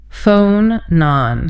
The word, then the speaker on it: phonon: Phonon. This one blew my mind. P-H-O-N-O-N. And it's pronounced F-O-H, non-non. A long O at the start and a shorter O at the end.